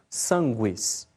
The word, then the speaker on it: sanguis: Depois, nos grupos Q e GU, o U é sempre pronunciado, como em qui, né, que se pronuncia qui.